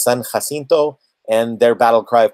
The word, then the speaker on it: San Jacinto: Jay AC I nto so if you might look at it and look at C it seems to be pronounced Jacinto but it is son Jacinto and their battle cry